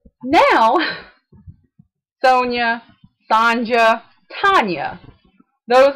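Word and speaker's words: Sonya: they have to tell the world how to pronounce it I can tell you my name is Sonia Sonia s o n y a Sonia I can tell you honestly that outside of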